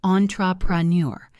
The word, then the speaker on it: entrepreneur: It is pronounced entrepreneur. The stress is on the last syllable, neur. He is a successful entrepreneur.